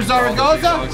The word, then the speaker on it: Zaragoza: We got Arthur Zaragoza. In the house. Zaragoza. Zaragoza. With an S.